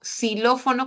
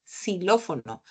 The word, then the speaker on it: xilófono: con x xilófono no xilófono con x suena como s xilófono pero la x en